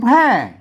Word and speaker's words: แพร่: ไป นะ ครับ อ่า ตาม หลัก ภาษา ล้านนา อ่าน ว่า แพร่ นะ ครับ เมือง แพร่ พอ นะ ครับ เมือง